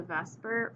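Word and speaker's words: VSEPR: today via cpr okay pronounced vesper just as an acronym there uh we're going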